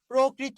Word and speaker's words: প্রকৃত: কি করবেন ও করবেন সেই বর্ণের অ এর উচ্চারণটা কি করবেন ও করবেন অ এর উচ্চারণটা কি করবেন ও করবেন যেমন দেখেন ভাইয়া প্রকৃত খেয়াল করেন প্রকৃত প্রকৃত এই দেখুন শব্দের শুরুতে র ফালা আছে কি আছে র ফালা